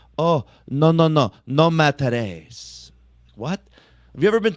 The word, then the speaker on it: Matarese: I think it's because my last name is Matarese with an E at the end, but I grew up in New Jersey my whole life.